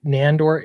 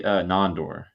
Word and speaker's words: Nandor: And you've got Nandor. Am I saying your name right? So it's actually Nondor.